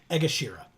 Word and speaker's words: Egashira: wheel so Marcus says his last name is is egashira is how you pronounce it it sounds like